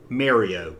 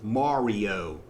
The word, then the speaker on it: Mario: golf kung fu super mario brothers and don't you ever ever say mario it's not mario it's not m-a-r-y it's mario i know i'm not